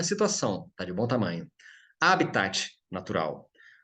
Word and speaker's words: habitat: A pronúncia recomendada também, de bem lá, do latim, é proparoxítona, habitat. Alguns pronunciam habitat ou habitat, até sem falar o T, né? Mas o ideal é o habitat, que já traduz essa ideia de natural, né?